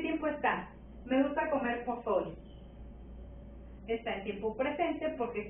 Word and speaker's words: pozole: Pozole. ¿Dónde escuchas la sílaba tónica? Pozole. En so.